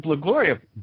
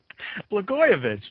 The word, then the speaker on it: Blagojevich: And we all had to learn to pronounce his name suddenly. Why is Governor Blagojevich, I knew I'd do that, Blagojevich relevant to a discussion of journalism topics?